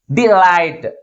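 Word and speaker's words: delight: second syllable ముందు ఉంచాలి okay next another one ది లైట్ ది లైట్ ది లైట్ అంటే ఏ syllable ఎక్కువ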